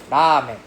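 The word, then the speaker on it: ラーメン: Okay, so we don't say ramen. We don't say ramen. We say ramen. Right? You don't hear me or I don't roll my tongue. I don't have the R sound. I go for the closer to the L sound.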